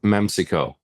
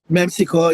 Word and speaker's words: Memcyco: Memcyco. Memcyco, you pronounced it correct.